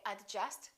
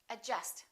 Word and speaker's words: adjust: okay silent d adjust don't say adjust say adjust adjective all right silent l